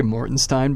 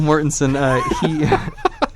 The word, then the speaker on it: Mortensen: a video I almost I always want to say Morton stein because of that joke from It's Always Sunny in Philadelphia but real Mortensen lissa don't know we're